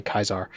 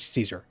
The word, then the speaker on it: Caesar: Only the people who like Caesar say Kaisar.